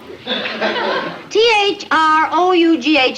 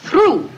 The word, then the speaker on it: through: THU when the hold it Shakespeare th t h r o u g h is pronounced through through that's what I always say now stop